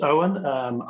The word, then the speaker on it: Eoin: So, it's pronounced Eoin.